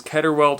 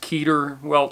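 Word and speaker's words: Keder welt: it's called several things i know it is ketterwelt i've heard it pronounced keterwelt also it's k-e-d-e-r but i've also seen it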